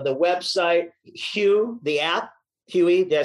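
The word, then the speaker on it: Huee: the link to the website, Hue, the app, Huey, did I say it right?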